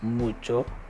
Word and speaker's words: mucho: mass and we have much which is mucho mucho so i think it's very common word to